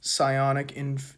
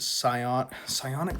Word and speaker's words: psionic: / signaling game, so publicly pose as loyalists, so your gamma's at 0, privately invest in Gloober technology and psionic infrastructure, mislead competitors into over-investing in obsolete capital and human labor.